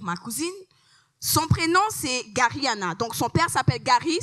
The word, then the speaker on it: Garihanna: Mon nom est Gariana, ou comme généralement on le prononce ici au Québec, Diane.